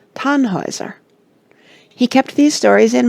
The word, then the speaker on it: Tannhäuser: Here is a list of the operas by Richard Wagner, with their names pronounced. The Fairies, 1833. Das Liebesverbot, 1836. Rienzi, 1842. The Flying Dutchman, 1842. Tannhäuser, 1845.